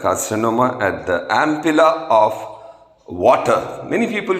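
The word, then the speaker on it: Vater: of common bile carcinoma at the ampulla of water many people call it ample of waiter but connect correct pronunciation ampulla it is the opening of pancreatic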